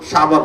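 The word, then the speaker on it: شعبان: এই ক্লোজিংয়ের মাস হলো শাবান মাস শাবান উচ্চারণ করতে পাঁচটা অক্ষরের সমন্বয় শিন আইন বা আলিফ নুন শাবান শিন দেয়া হলো সারফুন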